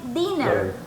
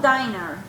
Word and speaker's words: dinner: of that first yes and dinner not diner dinner that is dinner nelson dinner okay so